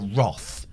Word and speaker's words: wrath: facts roger's taking the wrath of khan and it's pronounced roth in this country tim roth we're going